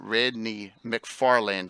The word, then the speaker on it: Radney McFarland: And also, Radney McFarland. Did I pronounce that correctly?